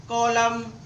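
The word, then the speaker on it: column: क्या है N silent यदि एम के बाद एन आए तो एन साइलेंट होगा जब भी एम के बाद एन आए तो आपका एन साइलेंट होता है कॉलम कंडेम आटम देखो एम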